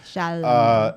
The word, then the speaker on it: Chalamet: Chalamet.